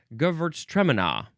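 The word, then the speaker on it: Gewürztraminer: And we were in Australia many years ago at a wine tasting and they pronounced it I believe Gvert Treminina. Gvert traina. Their emphasis was all all sorts of different from what we were used to. Uh Gvertmaner. Gvertstrainer. That's a little bit how I'm more used to it.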